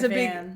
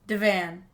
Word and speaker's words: divan: Okay, I'm gonna give you guys Divan. I'm gonna give you guys a clue. She's singing the theme song from the Cooper clan. Divan. It rhymes with Cooper clan, exactly. It's divan.